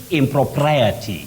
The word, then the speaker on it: impropriety: Elias Deno of nakuru you say impropriety impropriety not impropriety impropriety just like propriety proprietor now YF gmog of lamis